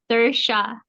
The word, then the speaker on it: Sersha: Sersha. Say again. Sersha. Sersha. Sersha like inertia.